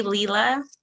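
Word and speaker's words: Leela: it's a girl um her name's gonna be lila but it's spelled l-e-e-l-a it had to be unique because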